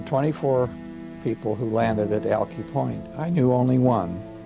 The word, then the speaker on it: Alki: after crossing the plains Brewster Denny calls it alkie Brewster Danny's pronunciation was the correct one this is based out